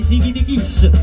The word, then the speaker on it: Sikitikis: Ma qui noi non siamo Mario Merola, noi siamo i Sighi di Kiss, perché a Napoli l'accento va sempre sull'ultima.